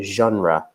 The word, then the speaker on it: genre: word there number four which comes from French and so the pronunciation is quite French as well we say a genre the movie genre and